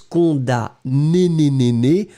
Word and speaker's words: condamné: connecté à père condamné souvenez-vous c'est mn C o n d a M n e accent aigu on prononce cond né mais on écrit condamné d'accord condamné au masculin